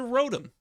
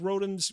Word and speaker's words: Rotom: Consider Rotom, also known as Rotom, depending on how you pronounce his name, which is an electric ghost-type Pokemon introduced in Generation 4.